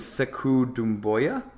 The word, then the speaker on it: Sekou Doumbouya: I think you pronounce his name as Sekou Doumbouya.